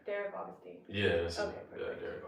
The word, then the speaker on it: Augustine: Okay, so I want to make sure I'm pronouncing your name right. Derek Augustine. Yeah, Derek Austinine.